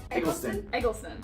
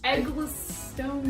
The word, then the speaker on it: Eccleston: How many times are we going to say his name wrong? I'd say roughly probably 12. Say it right. Eccleston? Eccleston. Christopher Eccleston. Eggless. Eccleston.